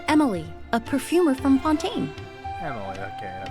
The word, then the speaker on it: Emilie: introduce myself I'm Emily a perfumer from Fontaine Emily okay that's how you pronounce it Pon is Pon thank you so